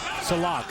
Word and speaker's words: Sillakh: You know, you look at the name Silak. It's spelled S-I-L-L-A-K-A. It's almost like silk.